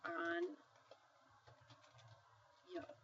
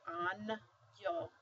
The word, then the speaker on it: año: It basically is that one letter makes the sound of the N and Y written together.